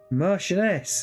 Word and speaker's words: Marchioness: Marchioness.